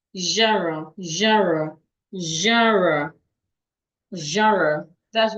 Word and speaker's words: genre: G E N R E is rightly pronounced. Jara.